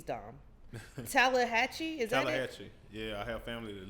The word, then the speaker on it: Tallahatchie: Tallahatchie.